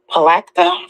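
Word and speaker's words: Palatka: His name is Alfonso Brooks, and he's out there in how do you pronounce it? Is it Palacta, Florida?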